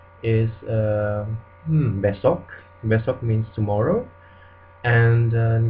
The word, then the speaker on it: besok: Um, an example of a word where it's pronounced like an a, like in Spanish a, is besok.